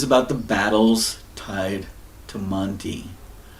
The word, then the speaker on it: Manti: the battles tied to Monty it's not Manti aunti is likely that pronunciation and Auntie means the